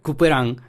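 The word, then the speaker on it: Couperin: este banquete fue françois se pronuncia cooperan pero se escribe cuperin y siempre he creído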